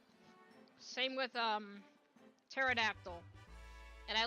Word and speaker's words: pterodactyl: again starts with a P same with um pterodactyl and I like to piss people off by saying paterodactyl so many Dino haters so many people that